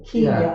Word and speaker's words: Kenya: was someone there from the Kenya or Kiera as it would have been pronounced them so all kinds